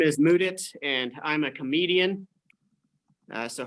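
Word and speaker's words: Mudit: so uh so yes my name is moodit that's spelled m-u-d-i-t but despite it being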